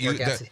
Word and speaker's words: Bargatze: Oh wait, Bargatze.